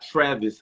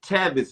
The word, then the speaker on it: Tavis: brother's name is tavis smiley it's not travis smiley so now you think i look good you think i look like kurt franklin and you think i look like tavis smiling learn how to spell it's tavis not travis and i'm and i'm